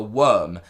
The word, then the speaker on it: Wyrm: Now, the other thing that has been confirmed is something that I always say the name wrong, but you guys actually help me understand that this is called the Worm.